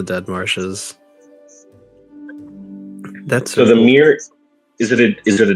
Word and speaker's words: mere: So from what the Forgotten Realms fandom has, it was named the Mere of Dead Men, referred to the fallen kingdom during the invasion.